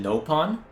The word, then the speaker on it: Nopon: this conversation along right you pronounce it nopon over here we stay with a short vowel are the creatures themselves